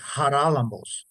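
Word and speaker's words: Χαράλαμπος: Greek makes the sound my name is in Greek is haralambos and it's not spelled with an H it's spelled with an X so when we when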